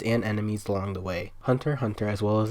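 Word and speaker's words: Hunter × Hunter: hunter x hunter pronounced hunter hunter is a manga series originally released in march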